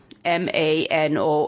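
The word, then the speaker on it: Manon: on a Facebook page well how do you pronounce the name mano m a n o n well that's how you say it Mano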